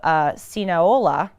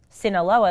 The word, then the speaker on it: Sinaloa: troops went into the state of sinola and tried to Sinaloa that's what I said Sean okay forgive me with my uh poor pronunciation sinaiola oh Sean says